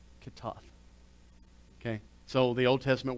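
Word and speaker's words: chatta'ath: the old testament it's c-h-a-t-t-a a-t-h which is pronounced catoth okay so the old testament word for sin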